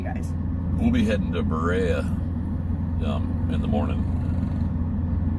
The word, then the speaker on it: Berea: We'll be heading to Berea in the morning. Is that how you say it? I think so. I keep wanting to say Brea. Berea.